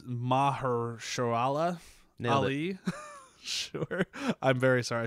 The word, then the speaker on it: Mahershala Ali: was I can't pronounce this poor guy's name. I'm sorry. It's Mahershala Ali.